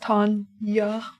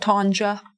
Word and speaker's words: Tanja: Tanya with a J, because my name's spelled with a J. I wonder how many people pronounce my name wrong. Tanja, but it's pronounced Tanya. Not Tanja. Not tangerine.